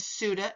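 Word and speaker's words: SUTA: federal and state and these are called futa and suda and that's how you pronounce it so let's take a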